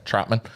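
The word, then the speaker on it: Trautman: Troutman.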